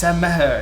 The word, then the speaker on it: Maher: But I think it's Irish, so I think it should be like Maher or something. So when people say Maher, it's not necessarily wrong.